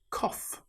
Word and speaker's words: cough: In this example, the gh sounds like the f sound. It's the same with cough.